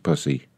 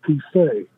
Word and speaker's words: Poussey: You're mispronouncing my name again. I'm sorry, what? I can't hear you very well, sir. Could you speak up? Oh, it's Poussey. I'm sorry, it's what? It's Poussey. What is? My last name. My pronunciation is Poussey.